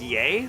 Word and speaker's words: Ye: nimus get in here pronounced like yay I believe you I don't is he lying is it yay no